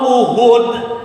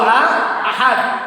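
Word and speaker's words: أحد: Contoh kita baca Qul huwallahu uhud. Contoh kan salah itu kan, tetapi nggak rusak masalah salat. Yang benar bacanya Qul huwallahu ahad.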